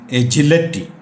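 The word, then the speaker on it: agility: എന്ന് പറഞ്ഞാൽ ചുറുക്ക് ചുണ രണ്ടാമത്തെ വാക്ക് spelling A ജി ഐ എൽ ഐ ടി വൈ എന്നാണെങ്കിലും അതിന്റെ അവസാന ഭാഗത്തെ ഉച്ചാരണം ലെറ്റി എന്നാണ് എജിലിറ്റി എന്നാണ് നോട്ട് എജിലിറ്റി അടുത്ത വാക്കുകൾ എബൈറ്റ് എബെറ്റ്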